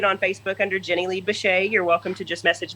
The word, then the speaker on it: Bichet: So Jenny Lee Bichet, is that the way I pronounce that? Am I doing it right? Bichet, yes.